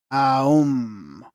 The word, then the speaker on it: Aum: The sentence Om Mani Padme Hum is not a 6 but a 7-syllable phrase, as the first syllable is double in its right pronunciation and triple in its essence. Aum.